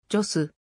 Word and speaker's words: Gios: イタリアのトリノよりイタリア語に近く発音するとジョス創業者のトルミー